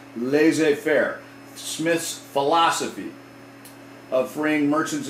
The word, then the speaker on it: laissez-faire: let's let's do that it's called this is pronounced laissez faire smith's philosophy of freeing merchants and traders from